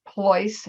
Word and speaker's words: Pleuss: in Peter L SS PLO as in Choice Voice or rollsroyce so that's the easiest way